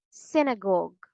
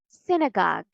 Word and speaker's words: synagogue: British English it's gug synagogue one more time synagogue synagogue say it with me synagogue synagogue if you notice all these words have the stress on the first syllable in both American and